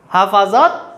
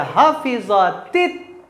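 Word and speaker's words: حَفِظَتْ: Yang benar itu bacanya begini. Bukan hafazat tetapi inilah makanya saya bilang penting untuk mengetahui saraf. Ya. Maka hafizha yahfazu hafiztul qur'ana. Bukan hafaztul qur'ana. Gitu ya. Maka kita baca hafizatit.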